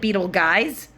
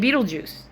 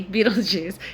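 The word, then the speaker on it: Betelgeuse: kidding that's its name it's spelled like Beetle guys but you pronounce it like Beetle Juice Beetle guys to me Beetle Juice it's the shoulder in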